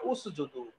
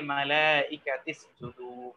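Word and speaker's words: اسجدوا: কিছু যুক্ত হয় অথবা আমরের আলিফের পূর্বের শব্দের সাথে এটাকে যখন মিলিয়ে পড়া হয় তখন এই আলিফের আর উচ্চারণ হয় না মালাইকাতিসুদু হবে তখন এটা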